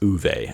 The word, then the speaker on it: Ove: and then I've got a man called ove or I think it's pronounced uve actually but I have this